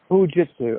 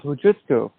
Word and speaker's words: Hojutsu: How do you pronounce that exactly? Hojutsu. Hojutsu. Okay, so let me make sure I say it right. And somehow or the other, you became the Soke, the founder of Hojutsu.